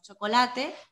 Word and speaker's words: chocolate: Y como decimos chocolate, queremos decir todas las sílabas. Chocolate. Chocolate, lo he oído así de veces, chocolate, pero no, chocolate, chocolate, chocolate, son dos sílabas, no chocolate, incluso chocolate, no, chocolate, I love chocolate, plural, chocolates.